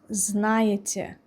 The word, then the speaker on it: знаете: Вы знаете. Знаете. This ending is tricky for so many people. Знаете. Эти. It's not ете, it's more subtle sound.